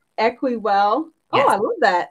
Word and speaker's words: Equiwell: Equal? Equi, actually. Like equity. Equiwell.